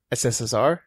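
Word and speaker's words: СССР: so I noticed that you don't pronounce or say the U you don't say like us SSR you just say sssr yeah oh that's because in Russian you say sssr so three S's and R yeah what does it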